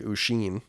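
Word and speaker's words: Oisín: because he wrote in he said it pronounced like a sheen are you sure that's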